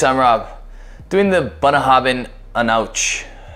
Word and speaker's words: Aonadh: Rob doing the banahabin an ouch spelled a-o-n-a-d-h but pronounced on ouch uh it is a